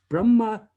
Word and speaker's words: Brahma: brahma vishnu and shiva brahma uh is uh the the creator vishnu is the sustainer and shira is the destroyer um the brahma with a long a that is a a a masculine noun brahman with a ending